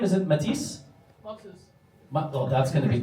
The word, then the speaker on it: Mathis: Is it Matisse? Oh, that's going to be tough for you. Say it like an American would. Mathis.